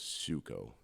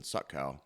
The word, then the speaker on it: Suckow: from um my okay my original family name last name was suko it was suo it's spelled s u c k w but it got mispronounced a lot and when you have when you're being introduced on stage and they from Pottsville I'm from Postville from Pottsville please welcome suckow I'm like it's time